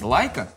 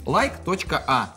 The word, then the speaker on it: ЛАЙК.А: Несмотря на то, что вы называетесь Лайка, пишется через like.a. И я сначала вообще прочитал как like a.